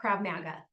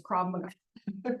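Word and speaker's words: Krav Maga: called CGA KRA MGA not Krab Maga not KRA Maga guys KRA MGA now I know how to say it sorry crab m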